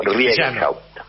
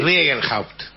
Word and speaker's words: Riegelhaupt: Yo generalmente lo digo Riegenhaupt. ¿Cómo? Así casi como leído, claro, sí. Riegenhaupt.